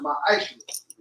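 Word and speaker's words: מעשר: It means 10th in the Hebrew, and it's pronounced ma'aishu. 10% of every penny or any increase the Lord gives you, get to the treasury department or teacher.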